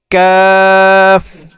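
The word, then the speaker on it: كاف: তারপরে কি ক্যাফ, ক্যাফ। আর কাফের মাখরাজ জিহ্বার গোড়া থেকে একটু আগে বাড়িয়া তার বরাবর উপরে তালুর সঙ্গে লাগাইয়া ক্যাফ, ক্যাফ।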